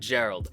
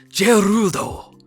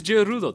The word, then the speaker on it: Gerald: like his name is jerudal no it's not his name is gerald he weaves his name is gerald like that's how it's pronounced his name is gerald it's just in japan it's pronounced gerudo that's it um but